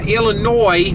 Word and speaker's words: Illinois: it's still here it's kind of like uh Illinois and I pronounce that correctly for you listeners uh and